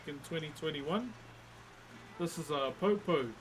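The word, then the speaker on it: poupou: This is a popo. P O U P O U is how you spell it.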